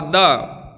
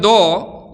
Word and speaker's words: द: कहा, एक वर्ण कहा, द। हम लोग प्राय बोलते हैं दो, लेकिन शुद्ध उच्चारण होता है द।